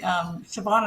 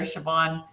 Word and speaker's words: Siobhan: And I don't know if you can put yours up there, Siobhan. First, Siobhan is just how it sounds. That's how you spell it. Right? As long as you're Irish, yeah.